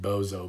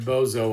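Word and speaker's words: Boso: name bozo b-o-s-o but i like to pronounce it like bozo because this guy really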